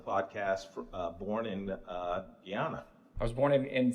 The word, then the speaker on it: Guyana: Uh born in uh Guyana. I was born in and it's actually pronounced Guyana.